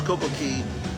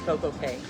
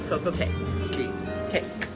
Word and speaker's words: Coco Cay: Perfect day at Coco Cay. Right, but you know that's wrong, right? I do, but it rhymes. Like, did nobody in Royal Caribbean go, guys, wait a minute, that's not how you actually pronounce it.